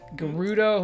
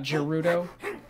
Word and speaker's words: Gerudo: the rito the uh gerudo who becomes his wife um and yes i pronounce it gerudo not gerudo you know yeah and